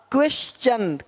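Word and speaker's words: question: देख पा रहे हैं यदि कि शब्द के अंत में एस के आगे टी आई ओ एन हो तो टी के आगे यू आरई आए तो टी का उच्चारण चा होता है देखो यहां पे टी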